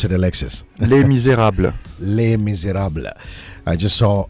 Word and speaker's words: Les Misérables: My friend Sanjay Suri is in studio and he's presenting La Miserables. I hope I've got the pronunciation right. Alexis is going to correct me on this one. How do you pronounce it, Alexis? Les Misérables.